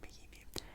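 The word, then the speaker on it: Mahinmi: And on the same year, Ian Mahimi, I know how to say his last name, Mahimi, signed in 2016 as well a 4-year, $64 million contract with the Washington Wizards.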